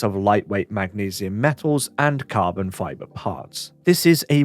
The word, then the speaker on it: CRBN: hand the odyssey carbon spelt crbn and pronounced carbon is a high-end headphone